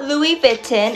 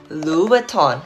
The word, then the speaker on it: Louboutin: may this leave bitten not louie bitten it's louboutin say louis vuitton louboutin